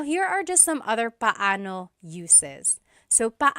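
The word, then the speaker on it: paano: It's technically pano. Pano when there are two vocab or when there are two vowels together, you say them separately. But when speaking quickly, Filipinos just say now let's practice using pano and gano in some questions.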